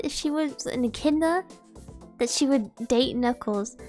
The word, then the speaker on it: echidna: Echidna? Echna? Hold on. Echidna? Pronunciation. Echidna. Echidna. Why is it pronounced like that?